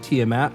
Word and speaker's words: Tiamat: A ruby holy symbol of Tiamat. Hang on, I gotcha. 1,000 gold worth of what? Of ancient coins. Coins. Yep. A ruby holy symbol of Tiamat worth 250 gold.